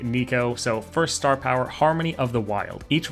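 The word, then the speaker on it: Neeko: interesting next let's take a look at uh Nico apparently is how it's pronounced I like say Neko is a Neko the gecko but I'll try to remember to say Nico so first star power Harmony of the wild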